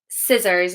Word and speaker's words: scissors: Scissors, exactly. So words like scissors will follow this rule. So, if the letter C is preceded by the letter S, the C is silent.